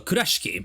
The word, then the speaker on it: Kurashiki: The girl was a kind of Kurashiki. Well, Kurashiki if I if I pronounce it in Japanese way.